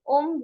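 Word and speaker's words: homme: And when the H is mute, we never ever ever pronounce this word. For example, when I say Om, which is man, I never say Hom. I said Om.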